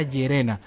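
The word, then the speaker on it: イェレナ: Me parece que el hecho de esta chica compartir la similitud en el nombre, ya que en el japonés se pronuncia Yerena, hace referencia a lo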